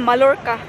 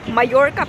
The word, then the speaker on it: Mallorca: Ang pag-pronounce ko kanina Malorca. Mayorca pala yan. K ang double L ng Spanish. Ayo ay why ang pag-pronounce nila. Grabe ang daming naliligo.